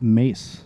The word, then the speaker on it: Mees: Yeah, you can say Meese or Mace technically, but it's it right, though. Um well, yeah, there you go. It's a It is a Dutch name.